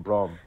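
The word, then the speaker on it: Braum: have borrowin kog'maw Barrowman kog'maw b ra u Brom I was pronouncing it right nobody under picked up to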